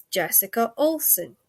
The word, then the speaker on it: Jessica Olson: And now it is my distinct and absolute unbelievable pleasure to introduce to you Jessica Olson. Now, please say I actually pronounced that right, because I sometimes muck up people's No, names.